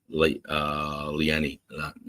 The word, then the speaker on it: Leanne: Leanne. Rhymes with Renee.